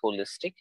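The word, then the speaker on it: wholistic: to that where which is also i mean pronounced as holistic w h o l i sdic now here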